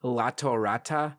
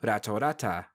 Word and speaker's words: Latorata: words with an L, like in lion, sounds closer to an R. Rayon. It would be more correct in English to spell and say Latorata, but pronounce in Japanese Ratorata, which I personally prefer.